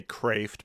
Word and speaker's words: Kreeft: Not too long ago, Peter, I should say Kreeft, because the Dutchmen always complain about how I butcher the Dutch language and I should know better.